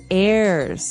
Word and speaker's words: heirs: pod and to his heirs this is our next word what is an air now if you notice the H is silent there so his heirs and